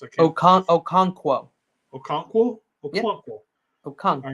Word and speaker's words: Okonkwo: They're tied in Okawanu or whatever, however that's pronounced. Okonkwo.